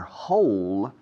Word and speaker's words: whole: Yes, they left their whole fortune to the postman or to the mailman. Postman or mailman. They left their whole fortune. Whole. Suena a agujero, ¿no? Y se escribe agujero con W delante.